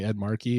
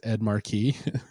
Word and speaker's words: Ed Markey: But she kept pronouncing Ed Markey as Ed Marquis like a dozen times throughout the program.